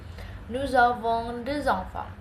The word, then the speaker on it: Nous avons deux enfants: Dan untuk bahasa Prancis, jika huruf kata berikutnya diawali dengan voyel atau huruf vokal, kemungkinan besar itu dibacanya menyambung seperti tadi. Nous avons deux enfants. Nous avons deux enfants.